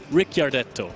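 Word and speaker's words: Ricciardetto: I have had problems with the pronunciation because there is an I in there, Yeah. and I never know where, but it is Ricardetto.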